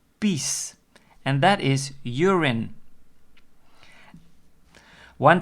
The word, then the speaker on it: pies: pies that word pies if you pronounce it Dutch it is peace and that is urine